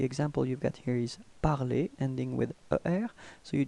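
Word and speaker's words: parlé: Okay, well, pronunciation is the same. Parler, parler. Okay, but then you can see that you write it differently.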